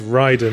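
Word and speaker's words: Raiden: need to correct myself it's raid in a mortal combat it's right in a metal gear so there's a Japanese god it's supposed to be right in the Japanese pronunciation right in it's been really good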